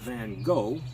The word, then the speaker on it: Van Gogh: Well, I'm inspired by many painters, including Vincent van Gogh. Mm-hmm. That's the American pronunciation.